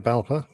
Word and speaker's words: BALPA: Is that the way you'd pronounce that, Nick? BALPA? Yeah, that's right, BALPA.